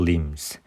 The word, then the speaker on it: limbs: 모한 반면에 his lower limbs, 그래서 be는 묵음이고요.